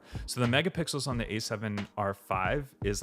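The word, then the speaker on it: A7R V: Okay, to answer your question on A7R, uh, A75R, it's A7R5 is actually how they say it.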